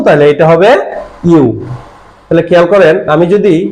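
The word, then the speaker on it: ㅠ: হবে ইউ এটা বেসিক্যালি অনেকে উচ্চারণটা ভুল করে ই উচ্চারণ করে ই আসলে এটা ইও না এটা হচ্ছে ইউ ইংরেজিতে ওয়াই ও ইউ ওয়াই ও ইউ ঠিক সেইম এই অক্ষরটার উচ্চারণ হবে ইউ সুতরাং সুতরাং এইটা যদি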